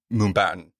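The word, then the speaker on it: Mumbattan: that happened with in mumbatin is that how you say it it's Mumbai in Manhattan yeah okay yeah I keep wanting to say Mumbai but I'm like no put baton at the end of it but it's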